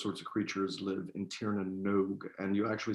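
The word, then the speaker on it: Tír na nÓg: because iris is a crazy language guys uh tiernanog uh is the irish the land of the fairy folk that's where all the fairy people the clericans all those sorts of creatures live in tiernanog and you actually say it nog and i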